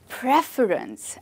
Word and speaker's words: preference: Do we stress on the second syllable fur? No, we stress on the first syllable, preference.